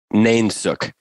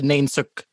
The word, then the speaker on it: nainsook: It's nainsook. N-A-I-N-S-O-O-K. Nainsook. What? Yeah. Nainsook. Spell that again.